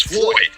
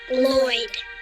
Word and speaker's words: Lloyd: No, my boss's name is Floyd. No. It's pronounced Lloyd.